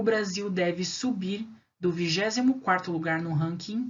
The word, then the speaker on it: subir: palavra uk é uma palavra oxítona porque o som a a sílaba tônica é a última é o bir né subir a gente fala subir